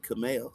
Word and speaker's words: Kymel: And my mom had this bright idea to name my middle name Kamel. So it's spelled Kymel.